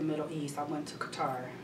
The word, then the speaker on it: Qatar: east i went to qatar which i think they pronounce a cutter is qadar i went there